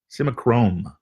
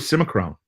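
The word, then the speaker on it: Simichrome: is the best one symma chrome sim a chrome I was sort of Simek Rome but you know you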